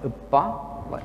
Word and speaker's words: uppa: It's pronounced as uppa, as in kappa.